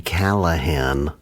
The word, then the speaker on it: Callahan: Is he Callahan? Yeah. Yes, Callahan, yeah. Harry Callahan. I had to look up how to spell it. I assume there was a G in it, and there is not. So it's all just L's and H's. Call a hand.